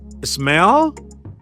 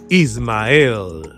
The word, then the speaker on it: Ismael: Some people say smile and I say well yeah smile. Yeah, that's good. Some other people say smell and I say no you smell I don't smell I smell good but not bad not b o but other okay so it is is pronounce it with me please ismael is yes like moic